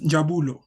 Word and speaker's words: Jabo: there uh okay so the way to pronounce my name is is Jabo Jabo nice yeah close enough